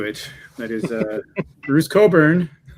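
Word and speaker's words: Cockburn: I picked this copy because it I love this hype sticker which tells you how to properly pronounce Bruce's surname. So, Coburn rather than what you might be tempted to say.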